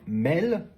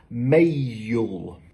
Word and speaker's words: mail: Donc au lieu de dire mail, je vais dire mail. C'est un peu comme si je rajoutais une syllabe supplémentaire.